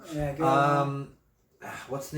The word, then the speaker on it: Guerlain: Guerlain. Guerlain. Yeah, Guerlain.